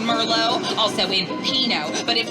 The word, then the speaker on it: Merlot: You know, the ones that know that the T is silent in Merlot, also in Pinot.